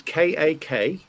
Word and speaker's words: kakistocracy: Can you spell that for us? Yeah, it's KAKISTOCRACY.